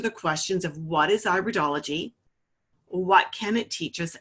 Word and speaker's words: iridology: this is actually pronounced iridology not iridology okay so it's not iridology it's iridology so that's an a long I at the beginning of the word not a sure I